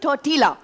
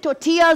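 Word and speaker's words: tortilla: सकता नहीं देखिए बेसिकली लोग कहते हैं टोटला टीला इट्स लाइक चपाती लेकिन वैसे टोटिया होता है उसका प्रोनंसिएशन एल साइलेंट होता है हां बिल्कुल बिल्कुल मैं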